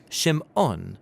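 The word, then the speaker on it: שִׁמְעוֹן: and she names him Simon or in Hebrew shim ohn because she says the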